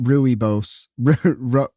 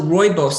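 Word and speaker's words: rooibos: Duff pronounced it I would have called it ruy Bose how how do you pronounce that what is and what is that so it's so royos so it's basically a black tea from South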